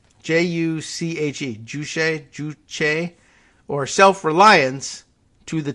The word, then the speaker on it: juche: north's ideology of uh who knows how that's pronounced juche j-u-c-h-e juche or self-reliance to the test north korean